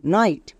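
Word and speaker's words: night: এইচ আছে তার মানে জি H silent G এইচ এর উচ্চারণ করতে হবে না যেমন নাইট ফাইট লাইট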